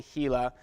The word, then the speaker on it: Gila: this place called the Gila the G is silent pronounced right like a Spanish G the Gila wilderness in New Mexico